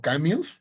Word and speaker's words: Camus: Entonces, eh, Camus, por ejemplo, famoso filósofo existencialista, o Camus, si quieren pronunciarlo con estilo francés, decía que la verdadera pregunta que hay que hacerse en filosofía es: ¿por qué no suicidarnos?